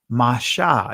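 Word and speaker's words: משה: became her son and she called his name masha you see moses but the ancient pronunciation is masha and she said because i drew him out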